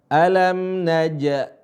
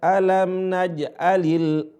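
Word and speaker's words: ألم نجعل: Alam naja. Alam naja. Ada sebagian teman-teman bacanya alam naja. Alam naj'al alam naj'alil. Alam naj'alil. Tidak ada suara qalqalah. Tapi dibunyikan dan dibiasakan membunyikan suara qalqalah supaya terbiasa.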